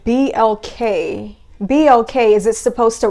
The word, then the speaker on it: BLK: It's not by accident that there's some weird dating app out there that caters to the black community that's called BLK, which rhymes with MLK.